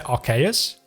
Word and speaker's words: Arceus: so I would say Arceus which also kind of coincides with the word arcane I would say that